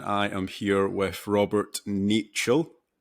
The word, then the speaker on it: Niechciał: another podcast and I am here with Robert nichel correct pronunciation yeah perfect um I feel like it's